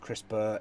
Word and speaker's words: CRISPR: I brought up the definition here CRISPR it pronounced CRISPR is a shorthand for Chris Berg - Kass